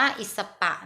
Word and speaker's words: อีสป: สี่ สุภาพ นะ คะ ส่วน อีสป หรือ หรือ เรา อ่าน ออก เสียง ว่า อิด สะ ปะ นะ คะ ที่ ส่ง